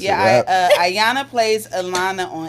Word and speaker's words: Ayona: Ayana plays Alana on It's a Rap. Yeah. Key main Julie's character. bouncing around, She's a main y'all. character with Legend. Main character, I'm Legend. This is Alana?